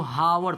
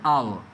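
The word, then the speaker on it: hour: देखो अब कितना लोग क्या करता है इसको हावर पढ़ता है जो कि गलत है। अभी मैंने क्या बताया एच ओ यू आर इसको हावर नहीं पढ़ेंगे बल्कि एच होता है साइलेंट। इसको पढ़ते हैं आवर।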